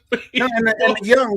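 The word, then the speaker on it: Yeung: that his name is not Jeff young young the way it's spelled that's that's the way they spell it but yo this bolo young is Balo young is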